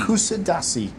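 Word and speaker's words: Kuşadası: Is it Kusidasi. Kusidasi, yes.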